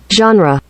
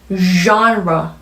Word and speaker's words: genre: 이 단어는 불어에서 가지고 온 단어이기 때문에 영어 발음에서도 굉장히 특이한 소리로 들리는 발음입니다. 원어민 소리 한번 들어볼까요? genre, 잘 들리셨나요?